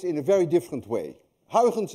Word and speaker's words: Huygens: Huygens, by the way, is difficult to pronounce. Anyone of you who knows how to say Huygens correctly is also Dutch, because you miss the ui in your language and you miss the g in your language.